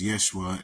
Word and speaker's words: Yeshua: Okay, we don't need to get into semantics about how J's were Y's once upon a time, so they should be pronounced Yeshua, and it has the exact same meaning as Joshua.